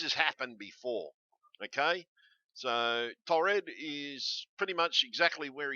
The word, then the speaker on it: Taured: Taured did exist, and it's pronounced Taured. Taured.